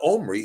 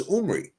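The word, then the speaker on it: Omri: whose name was omy well omy is a mispronunciation his name was not omy his name was omy okay yeah R somebody is somebody's preference on The Vow sound it was umri okay now umy was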